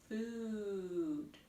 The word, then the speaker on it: food: see two o's and the sound is ooh like the word food food has two o's